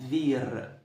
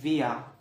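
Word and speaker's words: wir: ديتي اسمها فير. فير. فير. تمام. بعد كده شويه هتسمعها بيتقال لك فيا.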